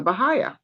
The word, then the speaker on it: Baha'i: So I kind of connected with a group called the Baha'i.